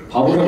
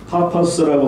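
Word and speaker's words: Paphos: 한국 이름으로 이게 바보라고 되는데 원래 그분들의 발음으로 보면 파퍼스라고 하는 발음인데 한국말로 그냥 바보라고 적었어요.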